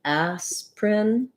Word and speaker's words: aspirin: that this word um looks like it should be three syllables like aspirin and you can say it slowly with those three syllables but we tend to leave out the vowel in the middle syllable and just say it more like asprin aspirin um has vowel